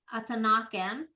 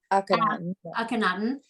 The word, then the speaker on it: Akhenaten: up at the Royal Museum when we saw Akhenaten. I say it wrong. Akhenaten.